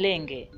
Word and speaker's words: Laing: as john lang however even though the correct name of the compound is john lang zambians have adopted john lange as the name this is because many had problems pronouncing the correct form of the name lange you